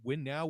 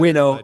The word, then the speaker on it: winnow: Is it Win Now or Winnow? I mean, it doesn't really It's matter. Winnow. It's Winnow.